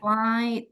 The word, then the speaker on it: flight: Still remember, when you find Face. the G Hey. and H comes together, then they are silent. Tidak perlu juga Anda lafalkan. Jadi nggak perlu repot-repot flight. Nggak usah. Cukup flight saja.